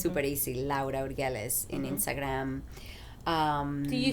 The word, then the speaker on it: Urgelles: Urgelles. Okay. Yeah. That's how you pronounce it, people.